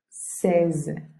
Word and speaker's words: seize: Seize. Seize. No dieciséis, como 16 en español, sino seize.